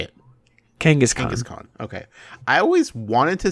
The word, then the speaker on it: Kangaskhan: Kangaskhan.